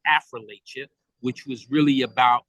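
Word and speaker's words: Affrilachia: I always pronounce it Affrilacha.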